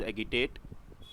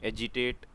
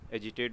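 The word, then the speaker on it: agitate: Third word is एगिटेट। एजिटेट, एगिटेट pronunciate करते हैं लोग, एजिटेट बोलते हैं वैसे।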